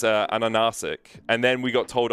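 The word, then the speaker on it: Ansurek: But the H in Cyrillic is actually an N. Okay. So for a long time we were calling ahahahasik, but it's actually ananasik.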